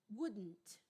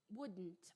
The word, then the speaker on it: wouldn't: a pronúncia wouldn't mas na pronúncia americana o d ele é quase imperceptível wouldn't wouldn't I would do it